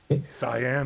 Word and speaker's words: cyan: Cyan. How do you pronounce it? Cyan.